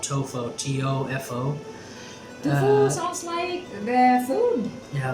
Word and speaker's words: Tofo: Mozambique little town called tofo tof oh yeah they call it they call it tofu that's how you pronounce it right away I knew